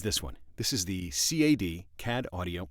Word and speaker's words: CAD: one this is the CA D CAD audio I say cat I think they pronounce it C ad the C ad audio